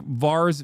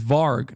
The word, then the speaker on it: Varg: Like Vars Vikernes comes to mind. Or not Var. No, what is his name? I'm saying it wrong. What the fuck? Is it Var? Is Varg, not Vars.